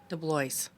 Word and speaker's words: DeBlois: Do you pronounce it DeBlois or DeBlois? DeBlois.